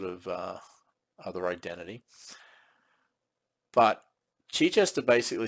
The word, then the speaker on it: Chichester: up uh now I'm going by the pronunciation of the uh the town in England in the UK uh that's how it's pronounced Chichester um I I thought initially it was Chichester but I think I'm